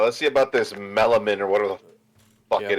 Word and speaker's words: melanin: All right, let's see about this melanin or whatever the fuck it is. Compound called melanin in it, and melanin. Melanin, isn't that what makes your skin darker? No, melanin. That's melanin. Nin. Not min. Nin.